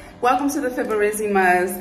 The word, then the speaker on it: Fiberesima: Welcome to the Fiberesima'S. That is how you say our last name, you guys. Fiberesima.